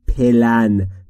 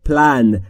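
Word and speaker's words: plan: داشتن یک پلن داشتن در مورد تلفظش دقت بفرمایید دوستان عرض نکردیم پلن چون بین پی و ال صدایی وجود نداره پس شما هم مجاز نیستید صدایی اضافه بکنید پس تلفظ درست میشه پلن یعنی برنامه داشتن یپ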